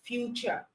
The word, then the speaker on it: future: As T, you can have words like nature, as future. All right. That's for T, producing the ch sound.